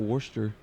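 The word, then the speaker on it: Worcester: of pronouncing it wor I just call it Worster it's not it's it's literally pronounced w w no like like w is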